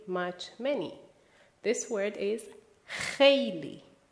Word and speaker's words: خیلی: This word is خیلی. خیلی. Please pay attention to the pronunciation. The first letter is خ, which does not exist in English.